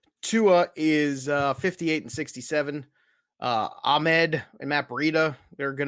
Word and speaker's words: Ahmed: I've heard all different kind of pronunciations. It's Salvin Ahmed. Yeah. It is Ahmed.